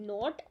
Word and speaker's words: knot: पहले जो नोट है उसकी स्पेलिंग है NOT, नोट।